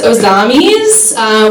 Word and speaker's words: Ozamiz: It's Ozamiz, which is Spanish, which is confusing because I look very clearly white, right?